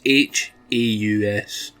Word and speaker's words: Haus: has 2 DLC packs, this being the first one called Haus, but it's not spelled house like you would normally spell it, it's H-A-U-S. Haus! It's German, I think. Pretty sure it's German.